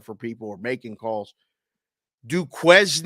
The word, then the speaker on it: Duquesne: people or making calls Duquesne D Carlin how many times seriously how do you say it you're right yeah du Kane to K it's in Pittsburgh say